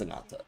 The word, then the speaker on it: Ananta: Is it Ananta or Anata? For some reason I've been pronouncing it Ananta. It is Ananta.